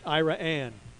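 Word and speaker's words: Iraan: of one iran iran it looks like the name of the country that's not it it's named after the town fonder's founders two daughters ann and ira and it's pronounced ira anne ira anne all right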